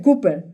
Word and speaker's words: Cooper: Se pronuncia Cooper, pero vaya a saber cómo se llama.